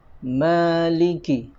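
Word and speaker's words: مَالِكِ: Di sini ada mad tabi'i, bacanya 2 harokat atau ukurannya 1 ayunan. Maliki, maliki, ya. Hati-hati terlalu panjang.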